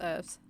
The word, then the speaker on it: herbs: cockney or something h but herbs are pronounced herbs and the story is